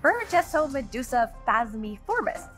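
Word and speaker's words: Burgessomedusa phasmiformis: It's called Burgesso Medusa Phasmiformis, named after the Burgess shale deposit where it was discovered.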